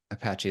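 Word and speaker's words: Apashe: Yeah, I think it's like the helicopter, because you used to have the helicopter branding. Apache is a helicopter.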